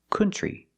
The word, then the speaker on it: country: cannot say another country the word is not pronounced country it's pronounced country we don't use the uh sound like foot and book we use the uh sound like cup and up and cut this is a relaxed sound uh C country country and we see the TR makes a chch sound like chicken plus the r tree together country so pronunciation another